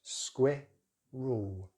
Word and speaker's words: squirrel: So British English, squirrel, squirrel, squirrel. And it's the squid as in squid, and the rule as in rural, squirrel, squirrel.